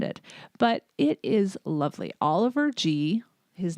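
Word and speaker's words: Oliver Gee: but it is lovely Oliver G his name is GE but he pronounces it the letter G is an Australian freelance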